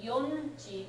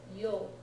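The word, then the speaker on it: 4時: Okay, and instead of yonji, we pronounce it yoji.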